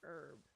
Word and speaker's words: herb: I always wonder why we do not pronounce the H in herb. We just call it a herb.